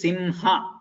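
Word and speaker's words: सिंह: There the word, the written is Brahma, but here the word itself is Simha. So it is half ma and then ha. It is not like Brahma where the pronunciation is different.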